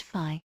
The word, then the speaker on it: phi: Pronounced phi.